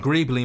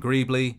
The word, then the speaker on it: Greeble: NPCs has the name Greebly, spelt with an E instead of a Y, but pronounced the same.